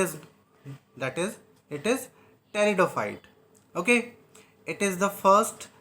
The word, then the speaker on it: pteridophyte: peridophytes or teretophyta okay the p is silent here so it is that is it is teridophyte okay it is the